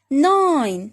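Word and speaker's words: nine: 9. The same is here. E silent.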